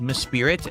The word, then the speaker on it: Mesprit: It's pronounced Mesprit. Okay. Mesprit.